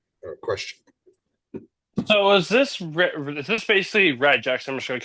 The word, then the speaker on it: regex: They use it as one short phrase because it's so many less syllables to speak than saying regular expressions. You just say regex.